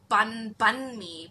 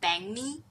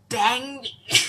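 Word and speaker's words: bánh mì: You will always read it as bun mi, but it's not bun mi. Like according to my friend, they pronounce it as bang mi, like bang me.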